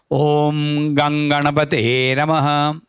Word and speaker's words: Om Gam Ganapataye Namaha: To be correctly pronounced, Om Gam Ganapataye Namaha.